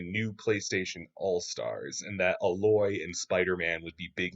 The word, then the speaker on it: Aloy: I Her name is spelled like Alloy, but I've heard it's not pronounced that way. I think it's like Aloy.